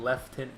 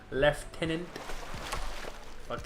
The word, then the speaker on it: lieutenant: there aren't any letters like it's spelled lieutenant but they pronounce it left hand they add an F in there for no reason left tenant stupid